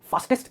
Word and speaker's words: fastest: Fastest नहीं है, मैंने कहा fastest and not test, क्योंकि वर्ड में टेस्ट है तो आप उसे टेस्ट कहने की कोशिश करते हो, जबकि वो टेस्ट नहीं है, वो है fastest. ऑनेस्टली ज्यादातर इंग्लिश में इसलिए